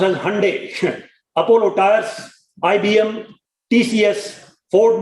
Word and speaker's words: Hyundai: Some of the executives from major companies like Hyundai Motors, actually pronounced as Hyundai, Apollo Tires, IBM, TCS, Ford Motors, L&T, Ashok Leyland, Mahindra and Mahindra, etc., have been regularly joining the program.